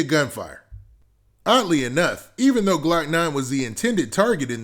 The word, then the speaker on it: Glokknine: year old jacavius smith whose stage name is pronounced glock 9 because the two men